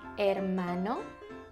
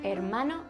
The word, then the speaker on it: hermano: Un hermano? Or a sister? Una hermana? Brother and sister in Spanish is hermano y hermana. It starts with an H, but you don't really pronounce the H.